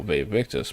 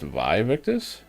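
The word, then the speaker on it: Vae Victis: the scale and you'll V victus but apparently it's actually pronounced VI victus and we've been lied to by Legacy of Kane all these years oops can rest here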